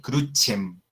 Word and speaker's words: crucem: La palabra crucem, crux, crucis, se pronunciaría con la E, crucem, crucem. Pax, pachis, se pronunciaría pachis.